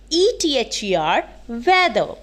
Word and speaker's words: whether: about weather weather so w-a-t-h-e-r weather w-h-e-t-h-e-r weather both penanced same but their meanings are